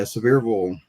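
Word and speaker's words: Sevierville: physician how far how far away is uh seille is that how you say it well where he was at I think was in Gatlinburg uh but several um yeah severville that's that's basically where I at and it's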